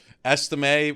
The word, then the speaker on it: Estime: Wait, did I say his name wrong? No, you said it right. I was almost hoping I was because Estime, while he was running around on Saturday, I